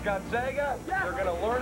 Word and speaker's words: Gonzaga: It's pronounced Gonzega.